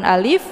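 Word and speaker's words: ألف: Yang pertama yaitu hamzah ataupun alif. Yang kedua yaitu lam dan yang ketiga adalah fa. Sehingga kita bunyikan dengan bentuk alif ya. Ada bunyi f di ujungnya. Jadi bukan a.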